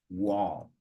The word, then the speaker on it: wall: wol wall wall yeah so that L is like disappearing wall not seeing wall that's why we also